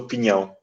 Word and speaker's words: Pinhão: Oui, donc c'est la Quinta, donc la ferme ou le domaine, da Costa do Pinhão. C'est comme ça qu'on le prononce, là, mais pignon, c'est le pain, le pignon, la noix de pain.